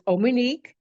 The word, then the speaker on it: Omonike: It's Omonike. You can spell it Omonike, OMONIKEMM.